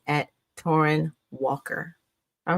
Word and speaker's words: Torraine: Um the way it's pronounced is torren. And the way I tell people it's like torren like foreign. Same pronunciation.